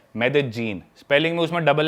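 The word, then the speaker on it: Medellín: It has a city called Medellin. There is a double L in the spelling. It is Medellin. But in Colombian Spanish, it is pronounced La as ja So Medellin.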